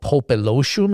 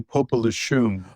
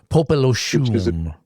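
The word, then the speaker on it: Popelouchum: and another one called Popolochum. Am I pronouncing that correctly? Unfortunately, not. It's actually Popolochum, Popolochum.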